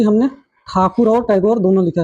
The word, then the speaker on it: ठाकुर: आप लोग देख रहे हैं होंगे कि हमने ठाकुर और टैगोर दोनों लिखा है। तो जो मूल नाम पहले था वो ठाकुर ही था, तो अंग्रेज ठाकुर नहीं बोल पाते थे, तो ठाकुर को टैगोर।